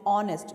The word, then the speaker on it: honest: So here H starts with the consonant, but still why we are using an here, because the pronunciation of honest is honest, means H is silent, we call it as honest police, therefore we use an.